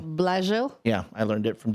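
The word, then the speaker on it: Blashill: I found out how to pronounce his name. How? Blasil. Blill. Blasil.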